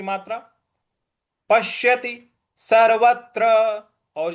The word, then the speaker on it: पश्यति: हो जाएगा योमाम पश्यति पश्यति यहां जो प के बाद जो आधा श है उस पर हमें आघात देना है पश्यति सर्वत्र सर्वत्र पश्यति त पर छोटी इ की मात्रा पश्यति सर्वत्र और जो त्र